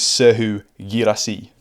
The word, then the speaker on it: Serhou Guirassy: Giving you my best French pronunciation. This is Serhou Guirassy.